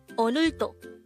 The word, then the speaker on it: 오늘도: Onto this is pronounced as a three syllable word.